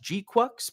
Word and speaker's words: GQuuuuuux: Depending on the it was mainly pronounced G-Quux, but sometimes it was pronounced differently depending on where it was in the sentence or how it was used.